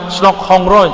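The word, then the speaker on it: Snouck Hurgronje: Baca namanya Snok Hong Roy ya. Enggak pakai H itu bacanya ong apa gimana gitu cara lafaznya.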